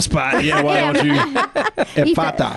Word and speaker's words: Ephphatha: we talk to her is, how do you pronounce it, Kirk? Put me on the spot. Yeah, why don't you? Ephphatha. Ephphatha.